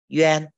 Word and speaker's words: yuan: Còn kết hợp với bốn phụ âm này Z này, Q này, X này và Y này mình sẽ đọc là yuan.